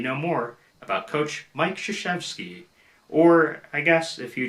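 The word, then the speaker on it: Krzyzewski: and now you know more about coach mike shoshevsky or i guess if you just want to pronounce it the way so many do coach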